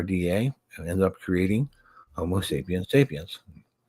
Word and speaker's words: Homo sapiens sapiens: and ended up creating Homo sapiens sapiens, which is the correct way to say that, by the way.